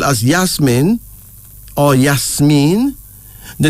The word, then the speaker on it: Yasmin: around the world also spelled as Yasmin oh yes mean the name symbolizes friendliness and sweetness and then